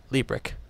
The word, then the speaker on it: Liebrecht: prove it a Tim him zoom up Jason Lee brick yep Lee brick I have to really announce this guy's name